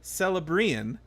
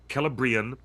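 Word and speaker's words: Celebrían: When the letter C is followed by an open vowel sound, in Tolkien's world, in Elvish, at least in Elvish, this particular Elvish, Sindarin, it's a hard K.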